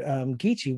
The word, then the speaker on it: Geechee: And so you'll hear, like, even with the word Geechee, which, is spelled with a K in its other form of K-I-S-S-I, is pronounced G-E-E-C-H-E-E. Because of that alternating the K and G sound.